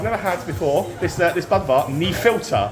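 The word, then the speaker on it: Nefiltr: And so I've never had before this Budvar knee filter. I'm told that's how you say it, knee filter.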